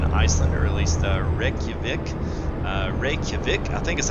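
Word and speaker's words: Reykjavík: Reykjavik, I think is how you say it. I'll have to lose some pronunciation and get up on my Icelandish language skills here.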